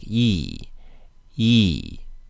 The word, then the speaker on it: 一: tone in dictionaries however it's usually pronounced with a fourth tone it's usually pronounced like e and in addition to